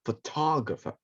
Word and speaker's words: photographer: i'm talking about so i have to learn to stress the correct syllable photographer ah okay i got